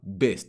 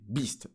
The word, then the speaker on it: Beast: Et d'ailleurs, les gars, ça se prononce bel et bien Beast et non pas Best, hein. C'est Beast.